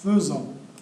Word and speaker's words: faisons: نردو البال nous faisons ça s'écrit avec ai تتكتب ai ولكن تتقرا او.